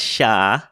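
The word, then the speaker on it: chá: say Portugal you're right yeah in Portuguese is pronounced sha um because of maau it was they got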